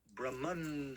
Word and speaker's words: Brahman: very simple But Brahma be careful. Brahman with an N. Brahman. Brahman. Brahman is the all perversiveness of Krishna. Brahman is the creator. The second creator. Brahma. Brahman. Brahma. Brahman. It's a different pronunciation.